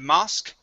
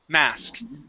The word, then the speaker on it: mask: Right here, this word is mask instead of mosque, mask.